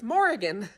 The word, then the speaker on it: Morrigan: morrigan is born again it's pronounced morrigan like oregon with an m it's what i picked